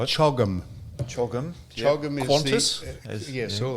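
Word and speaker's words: CHOGM: And the only reason I bring it up is because an acronym is only a pronouncable word like chogum.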